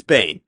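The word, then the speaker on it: Behn: Is it Ben? Is it Bain? It's Bain. Bain.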